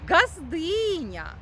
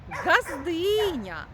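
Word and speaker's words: ґаздиня: називаємо його дружину слухаймо газдиня газдиня теж чітко і дзвінко вимовляємо звук Ґ А звідки ж ці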